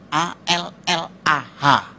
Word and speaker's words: Allah: a l l ah cuma Dia membacanya ngejanya beda sama kita kalau kita cukup Allah gitu kayak bercanda sama teman aja Allah lu gitu aja tersinggung gitu ya kayak begitu ringan gitu bacanya itu ringan tapi kalau mereka itu terpengaruh dengan bahasa Arab jadi enggak ringan Allah nah gitu kayak orang Batak